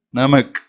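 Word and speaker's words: नमक: அப்படிங்கும்போது நமக், நமக் அப்படின்னு சொன்னால் உப்பு அப்படின்னு அர்த்தம்.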